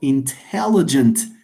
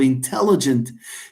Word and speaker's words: intelligent: There is this important, but there is also intelligent. The T of intelligent. شوفوا لي الفيرست T of intelligent مع last T of intelligent. Intelligent. You see? Intelligent. Why? It's because we say so it's the second syllable.